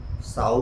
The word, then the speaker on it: sow: जैसे LIVE leave मतलब रहना, LIV लाइव मतलब सजीव, SOW सो मतलब बीज बोना, SOW साउ मतलब सुअरी।